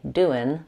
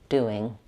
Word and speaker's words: doing: Make sure that you don't say doin', but rather lifting the back of the tongue. Doing.